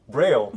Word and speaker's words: Braille: How was it pronounced again? Braille.